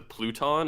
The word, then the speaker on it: Pluton: talk about it are these things being the pluton is that how you pronounce it yeah yeah which is like an